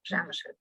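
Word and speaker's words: Przemyśl: If I pronounce the city name correctly, it's like Przemysl.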